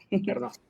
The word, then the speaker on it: Ernaux: Se pronuncia sí. Ernaux, ¿no? Ernaux.